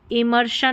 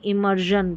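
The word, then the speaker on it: immersion: इमर्शन नहीं इमर्जन पढ़ेंगे।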